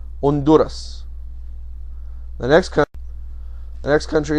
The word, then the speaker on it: Honduras: the country called honduras honduras notice the h is silent honduras the next the next